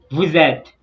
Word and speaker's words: vous êtes: Vous êtes, vous êtes. You know, vous ends with an S, and et begins with E. So S and E, they join together and form a readable syllable, which is vous êtes, vous êtes, vous êtes.